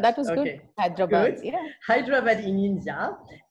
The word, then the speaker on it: Hyderabad: Can you pronounce That's it? correct. You're right. Yeah, Hyderabad. that was good. Okay, Hyderabad.